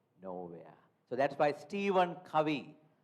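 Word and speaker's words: Covey: So that's why Steven Kawi we write it as coe o v y by but pronounced as kawi the author of seven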